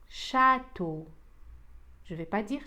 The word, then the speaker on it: château: Château. Je ne vais pas dire château. Château. أطيل حرف ال A.